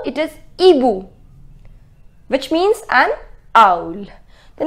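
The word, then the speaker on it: hibou: with right H but we do not pronounce it this H does not have its pronunciation so it is not he boo it is EBU which means an old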